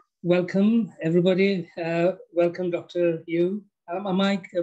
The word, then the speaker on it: Yueh: Yueh. Am I pronouncing your surname correctly?